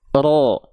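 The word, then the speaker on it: ر: lanjut oke ya ak ro ak ro ak Ro Jadi getarannya enggak berlebihan dia cuman sat e apa dia enggak berlebihan karena punya sifat namanya takrir tapi bukan berarti ya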